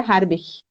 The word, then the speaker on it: Horbich: Então, hoje a gente vai conversar com o Marco Harbich, assim pronuncia Harbich.